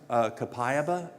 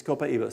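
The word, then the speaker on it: copaiba: Copa how do you spell that some people pronounce it kapaya but the but the people from Brazil say copaa word it's copaa c o p i a b a c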